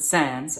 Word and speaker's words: sans: aware of anything now sans is an english pronunciation of a french word which means without so they're going to pronounce it sans and they say sans